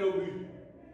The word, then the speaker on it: obus: On dit un obus. Le S ne se prononce pas.